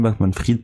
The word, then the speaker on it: Bankman-Fried: Et enfin, en parlant toujours de Sam Bankman-Fried, là, a priori ça se prononce Sam Bankman-Fried, pas Fried, ce milliardaire de la